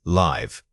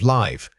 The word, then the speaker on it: live: Vowel length is the main difference in this comparison. Notice that leave requires a sustained vowel sound. It must be held out slightly longer than the quick clipped vowel of live.